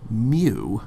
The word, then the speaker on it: mu: to be properly vetted the Greek symbol mu pronounced my oo mu is used to indicate